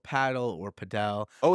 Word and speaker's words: padel: not the shits uh the second is I said paddle not padel well there's a big debate on whether it's called paddle or padel oh it's a debate